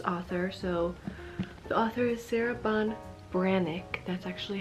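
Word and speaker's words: Sarah Ban Breathnach: more about this author so the author is Sarah Bon branck that's actually how you say this it looks like it should be Sarah band breath neack breath NCH after reading the book I kind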